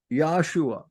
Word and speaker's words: Yahshua: So we can see if they pronounce the name Yeshua, then they're even pronouncing it wrong because it's Yahshua, just as the sacred name is Yahweh.